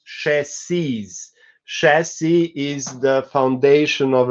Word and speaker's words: chassis: So, for example, chassis is spelled the same in plural, but it's pronounced chassis.